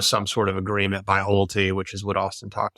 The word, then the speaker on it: owelty: And that's called an OWLTY deed. It's spelled OWELTY.